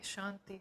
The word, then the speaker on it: Shanti: closing chant Om Shanti Shanti Shanti remembering that when we pronounce Shanti um it's kind of a dental tea or a soft kind of a tea so um just seeing